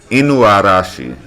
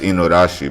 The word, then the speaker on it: Inuarashi: Inu Inu Inuarashi Inuashi Inu Arashi. I thought it was just Inorashi, but the A Inuashi. You got to pronounce that a the A.